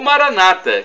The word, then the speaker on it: Maranatha: aramaico dialeto de Jesus eu clamo Maranatha como dizemos nós católicos ou Maranata com a tônica na penúltima sílaba como dizem nossos irmãos separados os evangélicos ou protestantes mas não